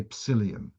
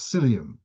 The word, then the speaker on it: psyllium: Am I pronouncing it correct if I say psyllium or is it a silent P? Okay, never mind. So, are you allowed to So, this is uh I'm told it's a silent piece.